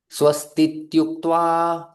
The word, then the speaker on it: स्वस्तीत्युक्त्वा: उक्त्वा, उक्त्वा, उक्त्वा, उक्त्वा, स्वस्तीत्युक्त्वा। स्वस्तीत्युक्त्वा। ये कुछ भक्तों को कठिन जाता है इसका उच्चारण, तो इसका आप संधि विच्छेद देख सकते हैं। बड़ा आसान शब्द है, स्वस्ति इति उक्त्वा।